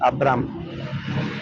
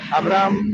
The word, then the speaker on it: Abraham: Porque eso significa Abraham, que en su lengua la H se pronuncia, aquí en nosotros es una H muda. Decimos Abraham. No, no es Abraham. Porque Abraham significaba un padre altivo. Eso es Abraham. Abraham, A-B-R-A-M, Abraham.